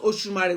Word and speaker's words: Osunmare: So Osumari, pronounced Osumari. When a lot of people, they will say the name. Some will say the beginning went to Oshun, which is, you could see a bit of Oshun there.